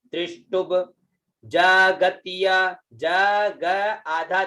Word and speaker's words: त्रिष्टुभ: ये आधा ब है, साथ में बोलना चाहिए, टू के साथ में बोले, ये है आधा ब है जो, तो त्रिष्टुभ।